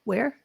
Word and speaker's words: weir: I'm not getting it it's um w w-a-r-e where where that's not how it's spelled but anyway it's you